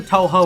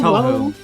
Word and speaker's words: Touhou: It's either Touhou or Touhou. It's one of those. We use both.